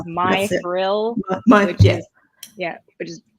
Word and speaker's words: Mithril: called it like m i think it's pronounced mithril but it's like my thrill which is yeah which